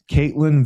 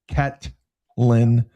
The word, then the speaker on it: Ketlen: versus Ketlen Vieira who I've never heard of.